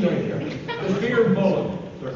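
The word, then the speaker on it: Fir Bolg: Next up, a pronunciation down here. The Fear Bollen, they're called.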